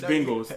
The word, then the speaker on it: Bengals: the bengals there the bangle sir oh anyway yeah say it right but it's not b-a-n-g it's bengals that's why i say